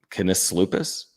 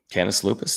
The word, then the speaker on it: Canis Lupus: Can tell me the pronunciation on this. Kenes Lupus. Canis Lupus.